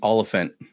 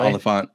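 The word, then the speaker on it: Olyphant: is actually pronounced Timothy Oliphant not all the font yeah he says it's like an elephant but with an O okay yeah it's pretty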